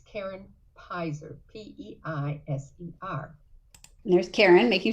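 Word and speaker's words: Peiser: she had chosen to do it i'm karen piser a lot of people mispronounce pizzer they say peaser or something else but it's karen piser p-e-i-s-e and there's karen making sure we know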